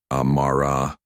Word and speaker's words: Amara: She took Amara's phone and studied it with narrowed eyes. Amara, is that how you say it? It's Amara, she corrected gently. Like camera, but without the C.